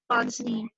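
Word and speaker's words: pince-nez: So I was searching the pronunciation of this word, and it's Ponsney spectacle.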